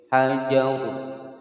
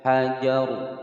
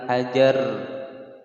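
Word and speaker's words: حجر: Kemudian huruf sebelumnya adalah huruf yang berharokat fathah, maka roknya ini dibaca tebal atau tafkhim. Hajar, hajar, bukan hajar.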